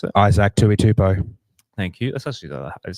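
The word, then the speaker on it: Isaac Tuitupou: How do you pronounce it? Isaac Tuitupo.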